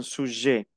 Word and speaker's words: sujet: Un documentaire est un film pour faire connaître un sujet. no pronuncio la T final de sujet.